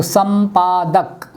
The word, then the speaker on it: संपादक: मैंने लिखा सम, इसके बाद यदि प आ जाता है तो संपादक, इसका उच्चारण ये हुआ म, संपादक।